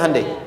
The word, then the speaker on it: Hyundai: bikin Honda sini Hai Hyundai kan dibacanya hundai ya kan sana Honda sini